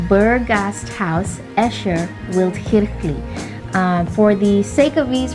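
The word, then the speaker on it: Berggasthaus Äscher-Wildkirchli: when you go to Switzerland, you're able to pronounce it correctly. So it is called Burgasthaus Escher Wildkirchli. Again, it's called Burgasthaus Escher Wildkirchli.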